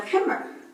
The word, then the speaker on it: khimar: The word she was trying to actually pronounce was Khimar. khimar. Okay, so khimar is the way to say the word.